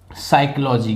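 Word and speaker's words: psychology: मनोविज्ञान मनोविज्ञान को इन साइकोलॉजी क्या बोलते इसको साइकोलॉजी क्या बोलते हैं साइकोलॉजी तो इसमें तो यह आपका साइलेंट है ठीक है तो इसको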